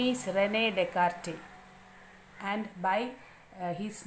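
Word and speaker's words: René Descartes: here you want to read the name yes is silent here the name is Renee dear and by his name only c c a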